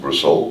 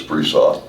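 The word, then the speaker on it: Bresseau: Some people pronounce it Bresau, but it's Bresau.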